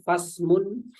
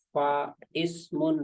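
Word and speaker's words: فاسم: Ya, ada huruf fa ketemu dengan ismun, dalam penulisannya dijadikan satu seperti ini, maka bacaannya fasmun, bukan fa ismun, bukan, tapi fasmun.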